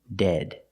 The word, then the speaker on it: dead: Pronunciation, dead. Use the short E sound, the sound like head and bed, dead.